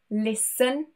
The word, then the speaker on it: listen: Also an S-T-E-N ending. For example, listen, moisten, fasten.